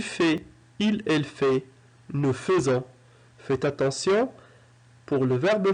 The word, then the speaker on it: faisons: Faire, je fais, tu fais, il, elle fait, nous faisons. Faites attention, pour le verbe faire à la première personne du pluriel au présent de l'indicatif, il s'écrit F-A-I, mais ça se lit feu, nous faisons.